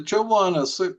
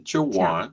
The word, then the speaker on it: Chowan: Uh the Chawan Discovery Group, that's our pronunciation, Chawan.